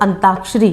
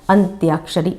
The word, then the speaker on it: अंत्याक्षरी: इसी तरीके से बहुत से लोग अंताक्षरी शब्द बोलते हैं और लिखते भी इसको ध्वनि के जिस हिसाब से हम बोलते हैं वैसे ही लिखते भी हैं उसी ध्वनि को पकड़ कर। तो क्या होता है? अंताक्षरी लिख देते हैं। लेकिन सही शब्द क्या है? अंत्याक्षरी।